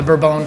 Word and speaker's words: Bourbon: places and French people, but they're all horribly mispronounced. So bourbon is named after the Burbone family, but of course we call it bourbon.